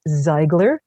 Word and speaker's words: Seigler: And for those of you of German extraction, I know it's supposed to be pronounced Seigler, but out here, this is the way they pronounce it.